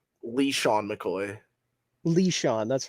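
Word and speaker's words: LeSean: Lee Sean McCoy.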